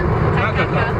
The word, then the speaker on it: Takaka: How do you pronounce it? Takaka.